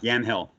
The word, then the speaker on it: Yamhill: It tells the stories of struggling people in your hometown, Yamhill, right? Is that how I pronounce it? Yeah, Yamhill. Yamhill, Oregon, with sort of a larger story about inequality in America.